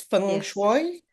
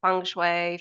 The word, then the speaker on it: Feng Shui: It's Feng Shui. So there are a few different ways of pronouncing Feng Shui. So I say Feng Shui, you could say it Feng Shui, Feng Shui, Feng Shui, depending on which region of Asia you're from.